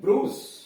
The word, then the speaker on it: bruise: बड़ी ऊ होता है, जैसे BRUISE ब्रूस, BRUISE ब्रूस यानी चोट, FRUIT फ्रूट।